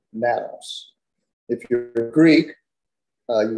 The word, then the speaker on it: Nanos: but uh if a quick question am I pronouncing your last name correctly Nanos you can say Manos or Manos I say Manos uh okay but um if you're Latvian that's